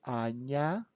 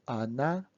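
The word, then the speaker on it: Аня: of times this name anya pronounce it loudly yeah is important to the end anya not anna anya okay and when you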